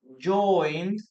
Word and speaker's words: joined: We have here joined, and then we have here joined too. Okay, so in this case, do we pronounce the letter E here?